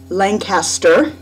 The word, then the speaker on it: Lancaster: is Hannah reporting from her first night at Lancaster University or as it turns out it's pronounced over here Lancaster and oh God it's been kind of an